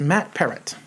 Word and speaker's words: Matt Peart: She said it's like parrot. So it's Matt Peart.